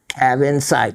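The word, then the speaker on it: cavansite: Cabin site, just as it's spelled.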